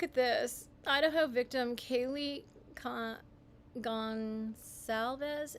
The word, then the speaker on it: Goncalves: Idaho victim Kaylee Gonsalves. Is that how you say it? Goncalves or Consalves? I think it's Consalves.